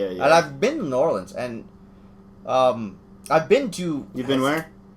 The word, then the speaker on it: New Orleans: You had to say it like them people down there in Nolans.